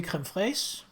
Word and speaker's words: crème fraîche: listening to Gordon Ramsay, that is the English pronunciation, and so it seems also the French, crème fraîche. In Danish, I would say crème fraîche. That is how it's normally said in Danish.